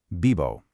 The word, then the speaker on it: vivo: Instead, it sounds like a soft, smooth mix of a B and a V. It's a very relaxed, flowing phonetic sound. Vivo.